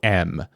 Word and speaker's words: Windom: I believe you're spelling Wyndham incorrectly in that case, though. It's Windom.